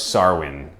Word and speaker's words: Samhain: Sarwin. I guess is how it's pronounced, but it is spelled Sam Hain.